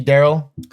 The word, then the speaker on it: Daryll: Spells like Daryl, but it's pronounced Daryl.